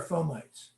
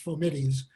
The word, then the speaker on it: fomites: says fomites what are fomites so for the for the people who studied latin in college the word it's actually should be pronounced for middies but doctors are taught to pronounce it fomites and fomites are are